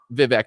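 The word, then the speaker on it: Vivek: party and I want vivec to have a position or V or however you say it rhymes with snake and cake or whatever you know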